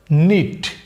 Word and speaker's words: knit: এখানেও same case, কে আছে কিন্তু কে এর উচ্চারণ হবে না। ওকে, উচ্চারণ শুধু হবে এইটুকুর, NIT, নিট। কিন্তু আপনি বানান করার সময় কি তাহলে কে বাদ দিয়ে করবেন? না, আপনি কে সাথে নিয়েই বানান করবেন, KNIT, কিন্তু উচ্চারণ করার সময় বলবেন শুধুই নিট।